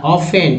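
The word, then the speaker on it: often: low salary they are ऑफ्टन टी हाँ silent ऑफ्टन ओ एफ टी ई एन है ना तो कुछ लोग ऑफ्टन पढ़ते हैं ऑफ्टन नहीं पढ़ना है ऑफ्टन पढ़ना है एक्स ई एक्स क्या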